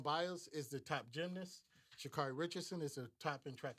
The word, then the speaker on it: Sha'Carri Richardson: pronounce her. Sha'Carri Richardson. Sha'Carri Richardson.